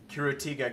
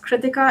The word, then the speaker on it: Critica: Uh it's uh it's actually pronounced critica. It's like the word uh critical without the L.